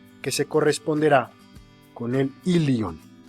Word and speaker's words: ilion: se corresponderá con el lyon recuerden se pronuncia ya escribe y lee jong no es correcto mencionar y león y león que se corresponden